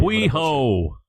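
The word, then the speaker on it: A hui hou: Ahui ho. That's how you pronounce it.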